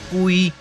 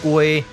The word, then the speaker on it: 鮭: 這是雞，嘛會使讀作龜，閣會使讀作雞，攏會使。